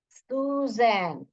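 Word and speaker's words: Suzanne: का नाम क्या था सुजन जड A double N ई एस यू जजन E silent है सुजन र ई आर अर य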